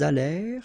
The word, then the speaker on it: allèrent: Ils allèrent, liaison, elles allèrent. And then this ENT at the end, you know, mark for the plural, well, clearly you don't pronounce it, so you get allèrent.